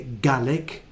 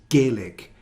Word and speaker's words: Gaelic: one is probably unique a e as in gaelic some people say garlic but one of the common pronunciations is gaelic with the same sound a now one good way